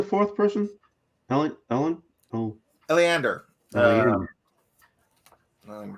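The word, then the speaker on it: Eliander: marge who's the fourth person ellie ellen oh aleander um let me spell it for you e-l-i-a-n-d-e-r aleeander fireborn he is the captain of the guard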